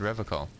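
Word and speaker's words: Revachol: he pronounces River call with a hard K unlike other people yeah cuz we're just like we like that okay said River call I like to pronounce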